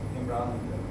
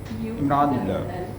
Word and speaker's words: Imranullah: Imran? Imranullah. U-double-L-A-H. Imranullah.